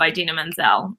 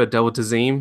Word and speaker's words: Idina Menzel: I said I love idina menzel she's amazing or a delta z m-- which who said that in the award show adele dazeem he's got the name wrong it was a comment